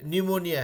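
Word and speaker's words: pneumonia: जाता है ठीक है जैसे की निमोनिया है निमोनिया का स्पेलिंग गलत बताने के लिए बच्चे लोग बताया था हमने बता पे थे अब हम निमोनिया तो भाई एन से शुरू हो रहा है तो एन से बोलेंगे स्ट्रगल करके बताएं स्पेलिंग पता चला पी गायब है मेरा तो क्योंकि वो पिसलेंट था वहां पे कमिंग बैक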